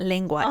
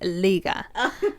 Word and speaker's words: Liga: it's not tongue Sarah it's not lingua it's Liga League my gosh nwsl Liga